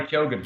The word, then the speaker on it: Keoghan: Is that Barry Keoghan? Is that how you say his name? Yes, Barry Keoghan. Keoghan.